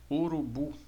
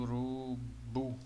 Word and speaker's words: urubu: classificamos ela como oxítona urubu vamos recuar mais forte o urubu Observe quando chega no boa aqui fica mais forte né então é uma oxítona a sílaba tônica é